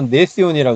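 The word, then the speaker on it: gnathion: 그 다음 이제 여기는 뭐냐면 이제 그 네시온인데 원래는 지는 묵음이라서 네시온이라 그러죠.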